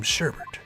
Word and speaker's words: sherbet: See, that's what I always thought, Maxim, but I don't think you actually pronounce the R.